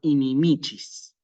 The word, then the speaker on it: inimicis: no resulta tan claro Entonces se pone el acento por ejemplo aquí donde corresponde que es en la penúltima sílaba inimicis sí Y nuevamente aparece